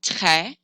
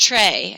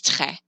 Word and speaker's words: très: An E with an accent grave is pronounced eh, like in the word jet. So the word très, it's an open E, très. A lot of people think that it's pronounced très, and they say, oh, très bien. That's not right. It's more open. It's très, très.